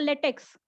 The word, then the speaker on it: LaTeX: say it is a LaTeX, but it is pronounced as a LaTeX, as it is a Greek capital letter. T is for tough, E for epsilon, and then X for the chi.